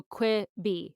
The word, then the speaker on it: Quibi: I can't remember how you Oh, pronounce it now. Quibi? Or Quibi. no, I think it's supposed to be I think it's an abbreviation for quick bites. So Quibi, right?